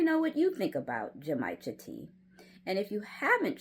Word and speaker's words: genmaicha: as in Mary, A I C H A, Jamaica. So, there you'll find Jamaicha and a bunch of other green teas.